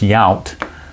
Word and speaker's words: Yount: rather five five on where that young came from but it's yount and that's a fly to right no matter how you pronounce it so one two three